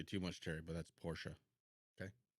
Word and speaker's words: Porsche: much terry but that's porsha okay portia there's a way to pronounce it it's not poor yeah yeah we're so